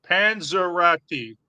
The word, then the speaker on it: Panzerotti: But it's pronounced Pete Panzerotti. Panzerotti.